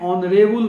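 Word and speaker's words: honourable: ही इज एन ऑनरेबल मैन. पहला चाहिए कि सिंगल काउंटेबल नाउन है तो आर्टिकल लगना चाहिए, और एच का उच्चारण एक ऑनरेबल कहा जाता है, इसीलिए यहाँ एन का प्रयोग होगा.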